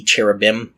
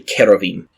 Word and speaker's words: cherubim: plural word there so it should be cherubim or really if we're going with a Hebrew pronunciation it is a hard CH sound like you have with nakash so it's actually kerovim kerovim are placed at